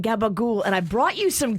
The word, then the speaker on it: gabagool: and it's very italian if you go try to order it and you don't know how to say it right here they won't do it but up in the northeast if you say gabagul everybody knows that it's this like cured